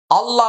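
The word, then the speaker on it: الله: হামজা লাম জবর আল লাম খারা জবর লা আল্লাহ মনে রাখতে হবে আল্লাহ শব্দের পূর্বে জবর আসছে। এখন কি হবে? আল্লাহ শব্দের লামটা মোটা হবে।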